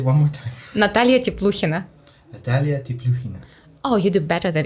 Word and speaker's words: Natalia Tepluhina: because this is Russian so I pronounce it's Natalia tip Luciana okay can it can you repeat he says what Natalia tip Luciana oh you do better